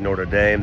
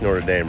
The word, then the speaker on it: Notre Dame: so that's uh it's Notre Dame right there I think that's how you say it North to norder Notre Dame I think is probably more correct okay so this this